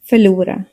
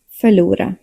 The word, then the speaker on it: förlora: Examples: kärlek, förlora. Kärlek, förlora. V and W sound the same in Swedish. Both are pronounced like the English V.